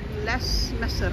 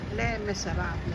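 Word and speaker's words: Les Misérables: babasahin niyo is ah less miser pero sa kasi nga Fr French le miserable hindi binibigkas yyung s sa ganon so He's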